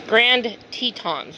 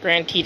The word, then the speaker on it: Grand Tetons: grant what the hell it's grand tetons not granted it's grand tetons all